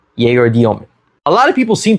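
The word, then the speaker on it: Egor Dëmin: first guy I'm going to be discussing is Jayer Demen from the Brooklyn Nets. He was drafted eighth overall in this past summer's draft and yes, that's how you pronounce his name, not Igor Deman. Yay Domen.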